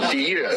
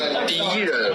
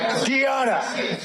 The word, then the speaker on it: 敌人: 敌人. How do you say it? 敌人. D what? 敌人. Diana.